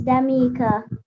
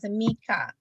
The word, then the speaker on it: Damika: All right, so I'm asking Damika or Damikia. I'm not sure. How is your name pronounced, darling? Miss Damika. All right, Damika.